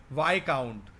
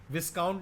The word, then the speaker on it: viscount: Next word है इसी का ही वाई काउंट। विस्काउंट नहीं बोलते हैं, VISCOUNT, इट is pronounced as विस्काउंट नहीं, वाई काउंट।